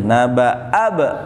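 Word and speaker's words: نبأ ابني: Lagi-lagi kalau ada alif sukun dan setelahnya ada huruf yang disukunkan juga, alif sukun kalah. Nah, tidak dibaca. Naba'a, bukan begitu bacanya. Naba'ab langsung.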